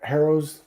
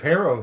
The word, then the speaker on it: Harrow: was thinking about how harrow if you drop the h a lot of languages if there's an h in there before a vowel is silent anyway it's the arrow it's the toxo right